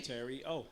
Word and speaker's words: Terio: Terio.